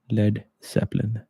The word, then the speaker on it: Led Zeppelin: A, so it's lead, Led Zeppelin. Hmm. To avoid mispronunciation, Page followed a suggestion from manager Peter Grant to drop the A in lead, ensuring it would be pronounced as lead rather than lead.